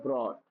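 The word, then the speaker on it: brought: ब्रोट तो यहां पे भी जी एच साइलेंट देखिए आपने कैच का देखा था तो क्या था?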